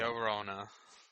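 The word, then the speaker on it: La Llorona: James, you're good at pronouncing the Mexicans and Spanish things. La Take it away. Llorona.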